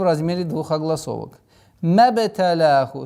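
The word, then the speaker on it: مبتلاه: Мабталяху. С огласовки фатха уходим на ба. Применяем правило калькаля.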